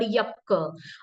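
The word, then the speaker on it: yaksha: uh calling the yaka yaka is actually a Sanskrit term and with different dialects and with different languages the pronunciations changes but the connotation and the meaning always remains same for instance in um in the Buddhist text it is called yakka and again the Jan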